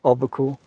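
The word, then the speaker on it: Alpicool: Albacool.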